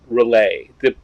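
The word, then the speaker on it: R'lyeh: that I often found I usually pronounce it relay despite the fact that it's clear that's probably wrong I just like it relay so I thought I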